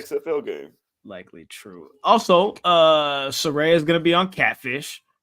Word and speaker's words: Saraya: Yeah, I think it was always pronounced Saray. They just spelled it that way to get people to pronounce it correctly.